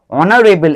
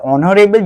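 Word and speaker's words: honorable: অনারেবল এইটা এইটা silent word. তাহলে অনারেবল যখন আমরা উচ্চারণ করছি দেখো অনারেবল ও উচ্চারণ আসছে।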